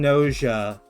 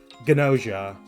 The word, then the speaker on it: Gnosia: funny is I pronounce I'm pronouncing noa with the silent G as in nos as in knowledge, the Greek root of the word. while in Japanese they're pronouncing it with the hard gy ganosia.